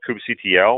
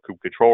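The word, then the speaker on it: kubectl: kubernetes we also launched coop CTL or coop control or group cuddle depending on how you how you pronounce it the official I think is cube control and Casilla official but I don't care and this will respect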